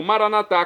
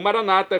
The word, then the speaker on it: Maranata: E agora eu clamo Maranatá, como dizem nossos católicos, ou Maranata, como dizem nossos irmãos separados das comunidades evangélicas ou protestantes. Não importa, a pronúncia, o significado é o mesmo.